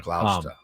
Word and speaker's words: Gloucester: It's a lot of letters for a less pronunciation. Gloucester.